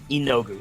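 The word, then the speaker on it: Yeenoghu: run on spite got it yes i can't pronounce the name of the demon present they come from enogu thank you y-e-e-n-o-g-o-g-h-u i'll put it in uh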